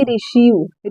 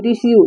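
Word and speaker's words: receive: आप यहां पर देखिए अगर ई और आई साथ में आया है तो हम इ का उच्चारण करेंगे आई का उच्चारण नहीं करेंगे इसको साइलेंट रखेंगे ठीक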